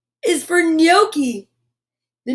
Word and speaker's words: gnocchi: that g is for gnocchi the gnome yells what waiter there's a bright white net nibbling at my gnocchi see that g is silent a gnome gnat and gnocchi that is a very